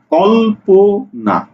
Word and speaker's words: কল্পনা: প ন আকারে না কল্প না উচ্চারণ যেটা হবে সেটাই লিখতে হবে তাহলে কি লিখছি কল পো না অর্থাৎ এই যে যুক্তবর্ণ